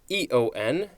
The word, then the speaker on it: aeon: it does not okay this is a-e-o-n or e-o-n and it is pronounced eon this is a noun